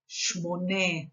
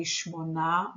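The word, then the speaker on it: שמונה: Shmone me'ot, again Israelis commonly say shmona me'ot, which is incorrect.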